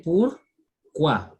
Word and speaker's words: pourquoi: we have just learned OU is U, OI is wa. So we say pourquoi.